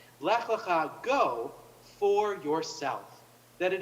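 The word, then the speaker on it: לך לך: is the idea that the second lech, or is actually lecha, and this is how we really translate it, or really how we really pronounce it. Lech lecha, go for yourself.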